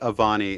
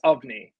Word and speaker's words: Avni: I said Avani, and you just said Avani. Can you pronounce the character's name for me? Sure, yes, Ovni. It's Avni. spelt Avani, but Okay. pronounced Ovni.